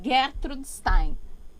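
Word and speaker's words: Gertrude Stein: Eu falo gettrude lá na P. Então, mas é porque em Paris, né, a pronúncia é Gertrud Stein.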